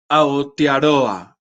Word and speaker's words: Aotearoa: Aotearoa. Aotearoa. Se pronuncia en lengua maorí y acá ahora Vicky Ann nos corrigió la pronunciación.